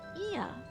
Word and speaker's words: Ea: When the vibration of the vocal folds was still required to convey our thoughts and intention, Ia, I believe, was a pronunciation used when referring to our people.